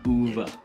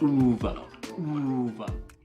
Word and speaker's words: Uwe: In Germany it's said as Uwe. Uwe. The W is not a W sound. Uwe.